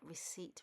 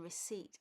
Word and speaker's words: receipt: In this example, we can see the words please, keep, and receipt. A lot of people pronounce the word receipt wrong. They pronounce the P. The P in receipt is actually silent.